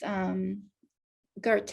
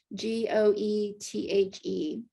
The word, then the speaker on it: Goethe: One of my favorite quotes, Goethe, I believe is how you pronounce his name, Goethe.